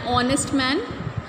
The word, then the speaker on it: honest: Same way, an honest man, because H is silent in this word also.